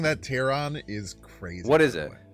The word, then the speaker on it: Terran: So it's pronouncing that Terran is crazy.